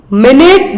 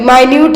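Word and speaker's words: minute: Next one, मिनट this walled blood vessels between the end, sorry माइन्यूट है यहाँ पर, मिनट नहीं है। माइन्यूट का मतलब बहुत छोटा, स्पेलिंग सेम रहे लेकिन अंतर है, जो मीनिंग है अलग है।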